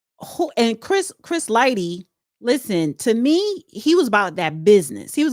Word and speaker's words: Lighty: How do you pronounce his name? Lighty.